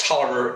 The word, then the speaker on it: Taliaferro: Had a last name that was spelled Taliaferro. Why that is pronounced Tolliver escapes me, but by golly, I learned.